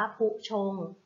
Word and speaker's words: ภุชงค์: คำ นี้ นะ คะ ภุชงค์ อ่าน ว่า ผู้ ชม ผู้ ชม ประกอบ ไป ด้วย พอ